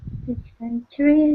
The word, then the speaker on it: dysentery: Dysentery, I think. E. coli was another one. What was that, Carmen? Dysentery. Dysentery. Dysentery. The stress is on the second. Dysentery on the first.